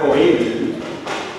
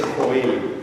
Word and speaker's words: Joel: y dos del profeta Joel en castellano por si acaso se dice Joel ya por ahí escuchado Joel se dice en catalán en inglés no en otras lenguas pero en castellano se dice Joel Entonces el primer los